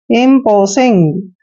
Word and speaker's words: imposing: देखिए IMP को हमने क्या पढ़ा है? इम्प, इम्प पढ़ रहे हैं। और P का उच्चारण देखिए यहाँ पे आ चुका है पे, क्लियर। O को हम O की मात्रा पढ़ेंगे और SING को सिंग पढ़ते हैं, इम्पोसिंग।